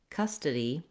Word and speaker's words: custody: So in custody, da da da, we have 3 syllables.